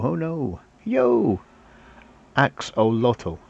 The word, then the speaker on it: axolotl: Axolotl. Axolotl? Was that what it is pronounced?